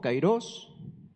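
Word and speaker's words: καιρός: por ejemplo nos vamos cairos o ciros ahí tiene acento en la o cairos ocasión tiempo fijo tiempo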